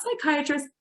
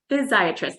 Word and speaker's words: physiatrist: I always pronounce it like that because I think some people are like, physiatrist. I'm like, not psychiatrist, physiatrist.